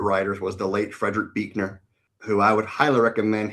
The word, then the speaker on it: Buechner: They're brilliant but Buechner, by the way, does not look like how you would pronounce that, just so you know.